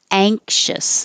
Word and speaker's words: anxious: And if it's the adjective, then anxious, the same thing, the ng, anxious.